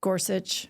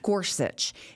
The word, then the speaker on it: Gorsuch: got goret gorset how do you say it Gorsuch Gorsuch who you know he's got all these funny